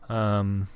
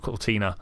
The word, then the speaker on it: Cortana: Cortana, not Cortina.